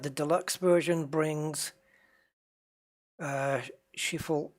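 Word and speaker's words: Schiphol: deluxe version brings uh shiful in the netherlands i think that's how it's pronounced she fall cairo pyramids just down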